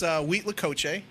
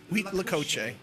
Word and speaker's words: huitlacoche: oh is that I'm totally good yeah it's huitlacoche week huitlacoche alright it's typically a corn fungus that grows